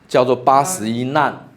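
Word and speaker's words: 難: say Nanjing (difficult scriptures) We pronounce the character Nan with the fourth tone like rescue team (jiou nan) like that In Article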